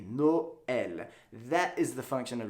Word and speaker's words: Noël: word would be pronounced Nol, which doesn't exactly sound pretty, and that's not a word. So Noël, you break up the vowel sounds and pronounce each vowel independently. Noël.